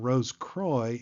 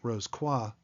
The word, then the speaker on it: Rosicrucian: By the way, the pronunciation Rosicrucian is most common among brethren here in the USA, so that is what I'm using instead of the French Rosicrucian, which is arguably more proper.